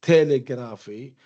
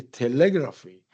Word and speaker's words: telegraphy: So we have telegraph, where the first syllable is stressed, telegraph, right? But when we add telegraphy, we do not say telegraphy, we say telegraphy. So we notice that the stress changes or moves to the next syllable, and this change